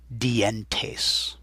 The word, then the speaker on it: dientes: The teeth are los dientes. Now if I were speaking at normal speed, I'd say los dientes, and you'd lose the double vowel there, but slowing it down, los dientes, dientes.